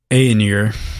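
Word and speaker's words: Ainur: from the first age these were the 14 aeonier i think is the proper pronunciation who actually helped sing ia the universe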